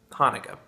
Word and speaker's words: Hanukkah: pronounce this is hebrew hanukkah chanukah even though both spellings are pronounced hanukkah um past the beer